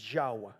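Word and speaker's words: Yahweh: le dijo Yo soy yahvé aquí aparece como yahvé pero realmente la palabra en el idioma original es yahua así como está acá yh listo dice también le dijo Yo soy yahua el Señor me aparecí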